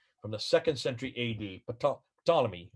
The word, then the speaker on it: Ptolemy: the second century a.d ptolemy you don't pretend you don't uh pronounce his let his first letter p just say ptolemy but i see it